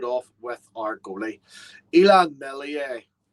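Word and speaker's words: Meslier: with our goalie elon mellier the s is silent it's drilled into me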